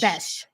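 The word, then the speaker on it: Bech: Is it Beck? Oh, I could go. How do you pronounce it? It's Besh. Besh. It is Besh.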